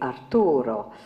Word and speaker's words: Arturo: And of course, in the Italian script, you pronounce it completely differently, so it doesn't rhyme. So they hadn't seen the joke in this. In other words, her name would be Marta, and his name would be Arturo.